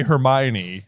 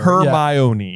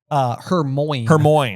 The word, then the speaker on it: Hermione: So she is sounding it out syllable by syllable, not for Crumb, but for you, the reader. For you, the reader. Hermione. Yeah. Hermione. Yep. Yes. And just for fun record keeping, we used to call her Hermoine.